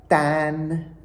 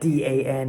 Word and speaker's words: dan: I guess you've figured out already that D-A-N is not Dan, as an American would say, but dan.